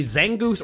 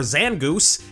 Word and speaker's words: Zangoose: This guy could apparently be Zangoose or Zangoose.